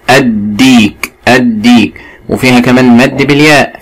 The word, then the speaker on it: الديك: حرف الدال من حروف اللام الشمسية، فاللام لا تنطق. الديك، الديك، وفيها كمان مد بالياء، فيها مد بياء بالياء.